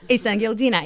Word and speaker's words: Isengildina: Isengildina.